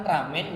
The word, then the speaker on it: ramen: Dan waktu di Cina itu orang bilangnya tuh lamian. Ketika orang Jepang mencoba pronounce L itu kan nggak bisa. Susah ya. R. Nah, akhirnya dibener ramen. Nah, akhirnya jadi ramen itu tadi.